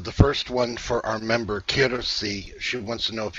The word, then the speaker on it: Kirsi: K-I-R-S-I. Kirsi. Kirsi. Yeah. Yes. Kirsi. That I understand more now. I knew that that wasn't the right pronunciation.